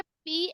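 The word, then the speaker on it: psychic: फिर हमारा साइकिक यहां पर लिखा हुआ है साइकिक बट पी और ह हमारा साइलेंट है इसको प्रोनाउंस करते हैं साइकिल साइकिल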